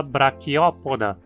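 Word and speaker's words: Brachiopoda: Então dizemos artrópoda, com acento na antepenúltima. E o mesmo é válido para braquiópoda.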